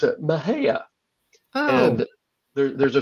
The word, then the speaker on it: Mexia: you look at it you think okay that's Mexia but the locals pronounce it Maha oh and there there's a story about two